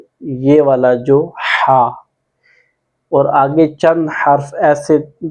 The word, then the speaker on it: ح: ادا کرنے کی کوشش کرنی ہے، یہاں سے ہا ہا۔ پہلے آپ نے سٹارٹ سے ہلکی سی